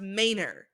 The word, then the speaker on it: Minor: His name is Minor. Pronounced Maynor.